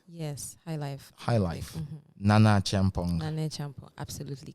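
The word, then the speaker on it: Nana Acheampong: Nana Champong. Nana Chong. Absolutely correct. I got I got the pronunciation so correct.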